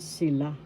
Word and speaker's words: sila: sila that means they first syllable si second syllable la the second syllable has the accent sila sila that means they